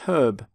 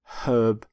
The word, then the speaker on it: herb: word for plant which is herb herb not herb by the way you pronounce the h in the word herbivore